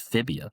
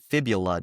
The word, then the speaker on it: fibula: The tibia doesn't have an L in it, but fibula does. Literally, in American English, it is pronounced as fibula.